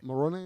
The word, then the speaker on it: Moroni: the angel uh moroni moroni is how you pronounce it um who shows him